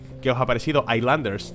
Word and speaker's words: Islanders: os ha parecido a islanders no no es icelandair suárez highlanders porque la s no se pronuncia pero que os haya